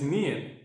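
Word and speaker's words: 니은: This right now is Nian, tongue position of D, but you pronounce N.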